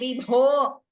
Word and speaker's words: विभो: So Vibho, Shambho, Lokaguro, Okara is always a Dirgha in Sanskritam, like we learnt in the pronunciation class. So we have to prolong it to two matra kalas. Okay, Vibho, Shambho, Loka Guro. It should clearly be heard as a Dirgha, not as a Hrasva.